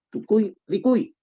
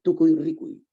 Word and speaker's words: Tucuy Ricuy: No es Tucuy Ricuy, es Tucuy Ricuy.